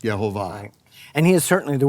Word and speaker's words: Jehovah: no question about it according to the the the hebrews it is to be now pronounced jehovah right now yeah according to